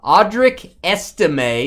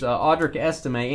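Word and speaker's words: Audric Estimé: talking about something else audri esime is what I'm told I'm supposed to say there by my producers audri esime and sker makes fun of me when I say it wrong uh Denver Broncos Dave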